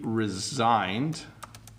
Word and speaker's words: resign: So Luke wants to know how to pronounce resign and resign. Okay, so sometimes like he resigned from his job or his position.